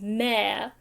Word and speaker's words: mayor: I think in Australia the way that we pronounce m-a-y-o-r is mer which sounds weird to me sounds weird coming